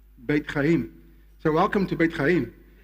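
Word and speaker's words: בית חיים: Lifehouse in Hebrew is, you say it like this, Bet Chaim. Beit Chaim.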